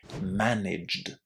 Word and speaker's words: managed: And you definitely don't want to say it like this when you want to say managed without that extra syllable.